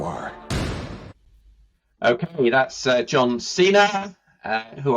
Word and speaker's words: Cena: John Cena uh who I'll pronounce his name right I got all sorts of Internet when I did an early podcast and I pronounced his name Senna or something but um joh Cena